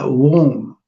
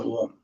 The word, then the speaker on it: Om: Now we're going to go and do the Om. Om made up of 3 syllables. One is A, U, Ma.